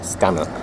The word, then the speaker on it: Stanhope: up stanhope standup felt stan hope pronounced stannic well done dave and